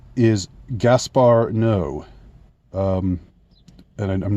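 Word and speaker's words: Gaspar Noé: director's name and the the director's name is Gaspar no um and I'm not sure if I pronounced that right.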